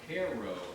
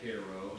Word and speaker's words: Cairo: Cairo, actually, the correct pronunciation, like K-E-H-R, Cairo, Illinois.